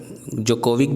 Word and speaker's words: Djokovic: थोड़ा प्रोनाउंसिएशन में प्रॉब्लम होता है, आप जोकोविक भी बोल सकते हैं, मैं डिजोकोविक इसलिए बोलता हूँ ताकि आपका अगर ये कभी स्पेलिंग में पढ़ता है SSC CGL वगैरह में तो आपका रॉन्ग नहीं होगा, ठीक है।